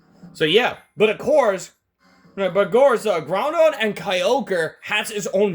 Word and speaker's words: Groudon: Okay, I was trying to pronounce the Ruby's legendary one, so it's Groudon.